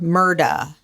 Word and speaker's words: Murdaugh: He was in court and they asked him to state his name and he said Alexander Murda.